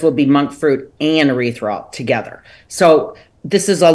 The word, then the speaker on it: erythritol: I cannot pronounce it. It's like erythritol. Do you know what I'm talking about? It's erythritol.